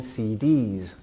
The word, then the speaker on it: CDs: jazz CDs deviation CDs so CDs abbreviation more stress on the last part of an abbreviation and de easy voice sound it actually you say D it ends in a vowel E and so the s becomes voiced into Z CDs CDs